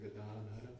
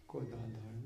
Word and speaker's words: Gadadhara: Shri Krishna Chaitanya Prabhu Nityananda Shri Advaita Gadadhara Shri Vasudeva Gaura Bhakta. In Good. Polish we always have strong accent on the second to last syllable. Godadhara. Well, sometimes it's right, if you're lucky, but not always.